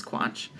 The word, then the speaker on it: Quach: I am at Sasquatch Comics, and that is spelled SASSQUACH, because my last name is Quach, and sass like I'm sassy.